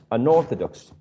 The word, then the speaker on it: unorthodox: prefixes i know that a prefix does not attract the stress so i know that the pronunciation is orthodox orthodox so i attach the prefix unorthodox never un orthodox i don't know if